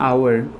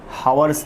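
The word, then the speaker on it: hour: उसके बाद मैं यहाँ पर लेता हूँ सेंस, इस तरह से सेंस 1 आवर, इस तरह से एच साइलेंट होता है, हावर्स नहीं पढ़ना उसको, आवर पढ़ना है।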